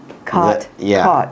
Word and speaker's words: caught: cot caught cot と caught 母音は英語で… 子音じゃなくて何だっけ？バウル？そう母音が違うんだ日本語は覚えてたけど英語は忘れてた Caught は「つかむ」って意味ボールをつかむ Cot は「小さなベッド」って意味小さなベッドだから僕の世代でカルフォルニアにいたほとんどの人が cot と caughtを同じように発音した「the catch is caught」「bed is cot」そうでもお母さんは違いが分かるよね？